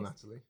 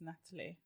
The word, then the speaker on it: Natalie: that all the time Natalie without the H no h after the T wouldn't that be Natalie no still Natalie it's Natalie silent h doesn't need to be there interesting and my did